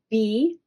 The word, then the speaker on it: blue: It's the color B-L-U-E. B-L-U-E. Blue. Oh, it's the color blue. That E is silent, which makes this one say its letter name instead of it's U.